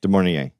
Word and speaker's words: De Mornay: Am I saying it right? Yeah. Is it Rebecca De Mornay? De Mornay.